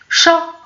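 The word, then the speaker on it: chat: شا قطه، ولكن تي لاحظتي كتكتب واحد تي ولكن ما كنكتبوهاش حنا، كنكتبوها مي ما كنطقوهاش، عفوا ما كنطقوهاش.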